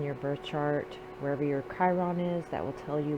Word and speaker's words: Chiron: Or Chiron. Not for sure the actual correct way to say that. I've heard different readers say it different ways, Chiron and Chiron. I say Chiron.